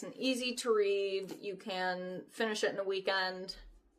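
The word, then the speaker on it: Khaw: This is by Cassandra Caw. K H A W. I believe it would be pronounced ca.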